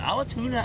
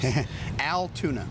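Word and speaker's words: Altoona: Wait, how do you pronounce it? Is it Alatuna, Iowa? Is that close? Altuna.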